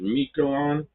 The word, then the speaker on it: Miquelon: Pierre, and I think you pronounce it Miquelon, maybe?